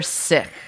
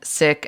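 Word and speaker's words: Sich: cool motorcycles yeah yeah so it's spelled motor as in motor and sick as in s-i-c-h uh now this is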